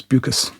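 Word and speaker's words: Beukes: Uh I'm reliably informed that's that's how it's pronounced. She's South African originally, so it's buus.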